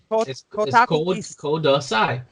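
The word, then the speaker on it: ください: SCI code si that's please note that it's it's kudasai so the next word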